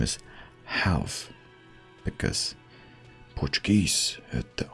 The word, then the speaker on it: real: me 130 real accent I know they use Hal in Brazil and they pronounce starting RS with an H but I'm assuming assuming